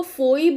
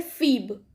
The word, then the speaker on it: Phoebe: Although the spelling is written as Phoebe, but the pronunciation is Phoebe. Okay, उसको फोइब नहीं पढ़ते, उसको पढ़ते हैं फीब।